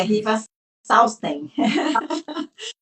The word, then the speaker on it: Riva Salstein: A Renata escreveu junto com a Riva Salstein, assim que pronuncia? É, Riva Salsten.